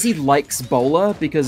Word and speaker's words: Bowler: he says he likes bowler because his name sounds like a hat which is why I